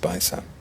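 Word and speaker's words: Baixa: I think it's pronounced Baitha.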